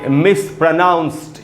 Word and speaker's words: mispronounced: इसको पढ़ेंगे कॉमनली, इसको पढ़ेंगे मिसप्रोनाउंस्ड। ये जो डी है दोस्तों, इसे ट बनेगा, ड नहीं।